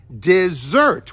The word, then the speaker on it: dessert: we pronounce it as dessert with the stress on that second syllable desert dessert I was